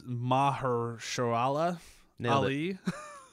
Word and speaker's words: Mahershala Ali: was I can't pronounce this poor guy's name. I'm sorry. It's Mahershala Ali.